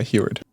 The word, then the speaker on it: Huard: Did I pronounce that right? Yeah, Huard.